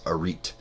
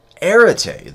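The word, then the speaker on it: aretē: years of me studying philosophy I used to pronounce this arit until somebody who knew Greek corrected me and said no that's that's irate um erity the Greek word in ancient Greek just meant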